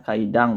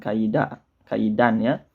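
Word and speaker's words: 階段: selanjutnya ada kaidang ya kita bacanya kaidang bukan kaidah-kaidahnya Oke selanjutnya ada erpc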